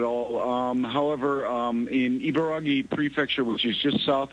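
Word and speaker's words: Ibaraki: Ibaragi.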